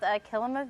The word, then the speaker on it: Kilima: Yeah, it is called Kilima Village. So the root word is similar to Kilimanjaro. It kind of just helps you pronounce it there.